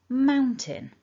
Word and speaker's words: mountain: So what we can see is the blue dot tells us this word is broken down into two chunks, two syllables. And the blue mark top left tells us that our strongest syllable is syllable number 1.